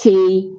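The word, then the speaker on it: qi: So Chinese doctors believe that for good health and to maintain the body's life force, pronounced chi, C-H-I, or X-I, depending on how you do it.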